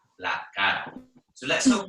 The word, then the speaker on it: la cara: And remember that the R is very soft. So especially if you have quite a strong accent and you tend to roll your R's, it's a good idea to make that R sound quite light.